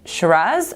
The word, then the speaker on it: Shiraz: You might be wondering, Shiraz or Syrah, which is the right way to say it? Well, both. Because even though they are the exact same grape, the name is more of a style.